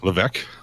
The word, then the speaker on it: Levesque: Levesque? Levesque. Pronounced. Vivek, like Vivek.